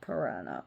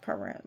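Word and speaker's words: Pyrrha: Greece and his wife which was not piranha. Oh my god, it's not piran. Piranha, not the fish. Pi pira p y r h a hope I'm pronouncing right pir pya piraa which deals with fire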